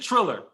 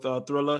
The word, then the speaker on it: Triller: contract with, is it Thriller or is it Triller? Thriller. I was fucking up the Zone and Danza. I'm pretty sure it's Thriller. It's Thriller. Okay, all right, because I think it might be spelled without the H.